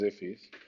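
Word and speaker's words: IIFE: Immediately invoked function, pronounced IFI, is a JavaScript design pattern often used to minimize naming conflict and create private variables.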